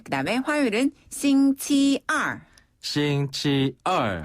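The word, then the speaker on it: 星期二: 싱치얼. 한 번 더. 싱치얼. 싱치얼. 네, 이때 얼은 위에서 아래로 뚝 떨어지는 음입니다.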